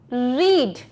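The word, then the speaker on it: read: अब रीड का third form क्या होता है, रीड होता है रीड, रेड स्पेलिंग सेम रहेगी, रेड, तो स्पेलिंग तीनों जगह सेम रहती है, बस इसके प्रोनाउंसिएशन डिफरेंट होते हैं।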